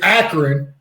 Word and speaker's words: Akron: doesn't he live in or the hotbar is acorn that's not cleveland never mind it's akron and it's about ourselves from i pronounce it akron apron yeah he's he's actually